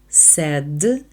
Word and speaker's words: said: Master anнтоніо сказав джепето сед дпето зверніть увагу слово сказав читається Se а не так як ви подумали що ти хочеш зробити